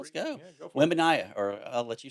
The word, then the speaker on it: Wembanyama: Wembanyama, or I'll let you say it. How do you say Victor? it? yeah, Wembanyama?